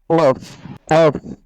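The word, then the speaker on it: ق: বাংলা ক থেকে আপনি যদি একটু মোটা করে পড়েন তাহলে কফ উচ্চারণটা হয়ে যাবে। আমি উচ্চারণটা করে শোনাচ্ছি, কফ, কফ।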